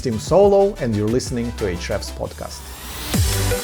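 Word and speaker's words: Ahrefs: and you're listening to hre's podcast A's podcast um it's actually pronounced hre oh sorry my bad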